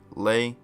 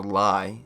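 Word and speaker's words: Lye: The Authority of Gluttony has 4 users: Daphne, Roy, Lei, or Lai is how the anime pronounces it, and Louise.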